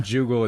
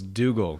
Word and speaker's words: Dougal: the hack we're making his name is not juggle it's dougal goodness sake no it's a mick juggle it's a silence it's a silent g it's a joel okay